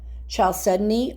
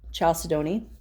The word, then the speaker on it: chalcedony: Carnelian, it's a variety of chalcedony or chalcedony, depending on how you pronounce it.